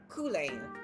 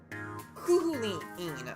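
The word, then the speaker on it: Cú Chulainn: No, wait, it's, Kulane. No, Kulaline? Is it, how do you pronounce his real name?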